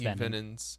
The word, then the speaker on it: antivenin: variety of products, including anti-venins. Venin. It's pronounced venin.